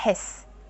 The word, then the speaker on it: hess: follow the same rules, you do pronounce that H. C'est la hesse.